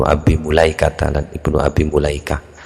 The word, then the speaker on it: Mulaikah: Wa Ikrimatu dan Imam Ikrimah wabnu Abi Mulaikata dan Ibnu Abi Mulaikah. Bacanya mula betul biasanya Malikah wong gak ada harakatnya ya.